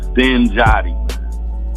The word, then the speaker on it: Sten Joddi: All right, so first things first, for those who might have seen you online and stuff, how do you pronounce the name? Sten Joddi.